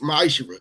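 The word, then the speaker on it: מעשר: chapter 3 verse 8-10 means 10th in Hebrew and it's pronounced maisha 10% of every penny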